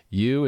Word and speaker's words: Yew: should fix it right you is pronounced as jew yeah you as in you and u is a